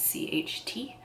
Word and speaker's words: Hexennacht: But so the brand in and of itself is called Hexennacht. I think I'm pronouncing that correctly. It's Hexennacht. All of the fragrances, I'm looking at their site now.